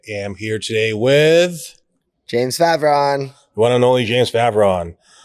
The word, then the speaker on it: Favron: Oops, I think it's pronounced Favron.